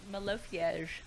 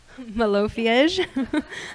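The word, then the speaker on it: Malofiej: Cece has won numerous awards, including the, I don't even know how to pronounce that, Malofy? It's a terrible word to pronounce, but Malofiege. Malofiege.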